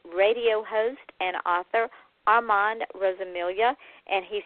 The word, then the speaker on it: Rosamilia: I am your host and my guest tonight is radio host and author Arman Rosilia and he said that I do pronounce his last name correctly which like my first name most people get wrong.